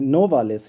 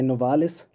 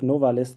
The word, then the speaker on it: Novalis: So um he also um most people don't know that also he himself put the emphasis on uh the first syllable of the name. So he called himself actually Novales. Usually we say noises but he called himself novalis to even to put even more emphasis on this element.